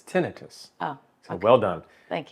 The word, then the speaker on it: tinnitus: it away first of all thank you for pronouncing it correctly oh did I because one of my pet peeves is tinnitus but it's tinnitus oh so well done thank you and uh